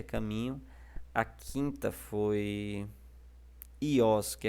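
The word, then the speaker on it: υἱός: As outras palavras que nós temos aqui são, quinta, a palavra ios, tá ok? Isso aqui é um som de I, o Y.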